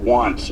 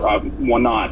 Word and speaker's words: Want: It's the day of the Battle of Want, or Wanat, as American troops kind of learned to mispronounce it based on the maps that they had.